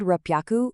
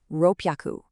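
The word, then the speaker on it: 六百: If you said rupyaku, you totally nailed it. Celebrate that. Here the h shifts to a really sharp double p sound. Ropeyaku. You really have to strongly pop your lips on that p.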